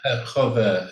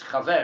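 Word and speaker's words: חבר: So, If somebody's a chover, is that the same word?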